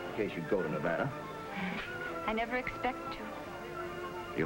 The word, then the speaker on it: Nevada: By the way, that's pronounced Nevada. I notice you give it the broad ah. I prefer it to a dreadful flat e. Only the dreadful flat air is correct.